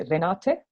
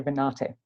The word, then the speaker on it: Renate: In Latvian, we would say Renate, so you roll your R, but in Australia, I say Renate. So I say it with an E ending, not an A.